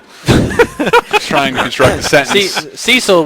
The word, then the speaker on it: Cecil: as number two as Cil trying to construct the sentence Cecil which we I know now is pronounced cesil and I will never call